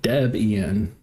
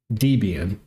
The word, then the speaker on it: Debian: Uh, Deb Ian Oh, Debbian.